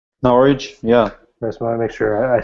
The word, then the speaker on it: Norwich: norch is that right I say that right norch yeah make sure I said it wrong every